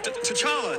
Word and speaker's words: T'Challa: say my name say to chana ah uh t'challa t'challa oh that's how you say it this